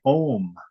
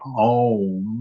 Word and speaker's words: Om: Anybody, at least what I was told by it, I found it very convincing, that it's spelled Aum, and it's pronounced in Sanskrit.